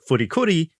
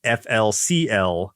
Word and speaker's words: FLCL: The title is intended to be pronounced Furikuri and not Flcl.